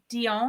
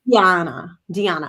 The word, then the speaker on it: Diana: Is it Dion? Oh, Diana? Diana. Yeah. Okay. Diana. Yes.